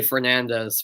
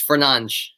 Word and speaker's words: Fernandes: Uh, yeah, the commentators always say Fernandez, but that's not the proper way to say it. It does sound a bit weird, but yeah, most of the commentators do say Fernandez, but the Portuguese in Portuguese it's Fernandes. So yeah.